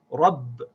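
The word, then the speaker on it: رَبّ: So we connect the ba with the ra as rab, rab.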